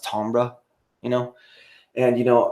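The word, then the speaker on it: timbre: and supposed to be i guess maybe a french word and it's pronounced ambra you know and you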